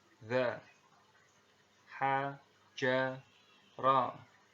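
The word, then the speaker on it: ز: Nah, secara teori huruf za ini diucapkan dengan cara ujung lidah kita berada di antara dua gigi seri bagian atas dan bagian bawah, menyerupai dengan pengucapan huruf Z kalau di dalam huruf alfabet seperti itu ya.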